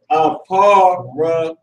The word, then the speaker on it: Ephraim: Now, this is how you say Ephraim. It's Genesis 41 and 52. Aparium. Aparium.